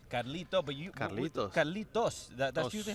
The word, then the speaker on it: Carlitos: Because Cubans, we don't really pronounce the S, so we say Carlito. Carlito, but you. Carlitos.